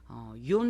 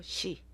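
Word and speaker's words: 四: 꺼리는 숫자다라는 말씀을 드리고 욘 말고도 시 시라고도 발음을 합니다 나츠메소세끼의 여기에 신초분고라고 나오죠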